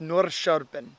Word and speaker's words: Norrköping: Dave showed me how to say that. My accent sucks, but it's pronounced Norrköping.